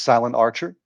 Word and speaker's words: SilentRcher: Um, his name is Silent Archer on YouTube. That's s i l e n t r c h e r. So, no uh no a in the middle there. Just just silent archer.